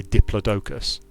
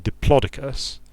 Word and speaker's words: diplodocus: pronunciation of the word in uk english we say diplodocus which sounds goofy and if you like goofy words then that's fine there's nothing wrong with that the american pronunciation diplodocus puts the emphasis quite differently and even though it's still a fairly goofy word it sounds a lot more serious so like and i